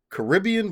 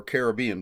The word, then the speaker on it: Caribbean: It's Caribbean Blues, or Caribbean Blues, depending on how you pronounce it, by Mary Higgins Clark,